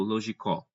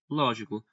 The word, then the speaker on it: lógico: Ninguém diz lógico ou logicó. Todo mundo diz lógico.